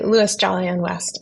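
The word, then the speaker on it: Louis Jolyon West: about this individual this uh I think I'm pronouncing his name correctly Louie jolly and West oh yes so I say Louis jolly and West I mean I like calling him Louie Lou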